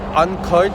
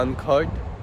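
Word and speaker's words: Urquhart: उसे ये लोग कहते हैं अनखर्ट कासल, मतलब ये लोग इसको ऐसे ही प्रोनाउंस करते हैं, तो इसलिए मैं भी इसलिए ऐसे करता हूँ अनखर्ट कासल।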